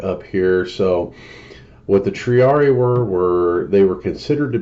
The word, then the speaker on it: Triarii: millimeters, cloud chasing, and it's pronounced Triarii, in case anybody's wanting to know. I just looked it up online. I don't know if it'll come up over the speakers or not, but how to say Triarii. Triarii. Oh, sorry, Triarii. Hold on, one more time. Triarii. Triarii is the proper pronunciation.